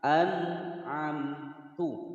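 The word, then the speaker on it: أَنْعَمْتُ: satu huruf idhar, maka cara membaca nun sukunnya dibaca jelas dan tidak boleh dipantulkan. Nah, itu namanya memantulkan atau mentawaludkan. Cara membacanya harus dibaca jelas. An'amtu.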